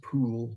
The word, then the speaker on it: Pole: concilium and also uh cardinal pole who is uh properly pronounced pool but i can't quite